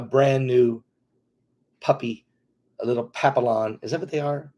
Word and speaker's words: Papillon: That's the best way to pronounce it. Papillon.